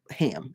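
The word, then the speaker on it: हं: But anyway, the throat chakra, again, mantra is ham, and it's pronounced ham. And you hear the ham, you hear the N, and you hear the vibration.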